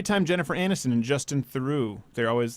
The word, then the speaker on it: Theroux: It's not Theroux. It's Theroux. So okay, so that's the third example.